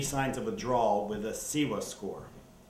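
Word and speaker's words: CIWA: of withdrawal with a siwa score a siwa is a standardized scale that helps determine the level of your withdrawal it's spelled c i wa and if your score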